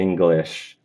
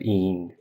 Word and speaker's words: English: You're doing an e instead of a e in the first syllable of English. So think of it more like e fechado, ao invés do i. Então, você, English, você, English, instead of ing, English.